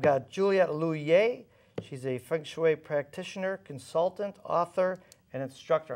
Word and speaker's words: feng shui: your name and funu my name is loer loer and funu kind of Rhymes um funu yes you